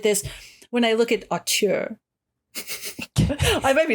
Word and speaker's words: auteur: as a rising horror auteur. Auteur. Auteur. What is it? It's A-U-T-E-U-R. Auteur, right? Yeah. Auteur, it's got to be. Yeah. I think you're saying it right.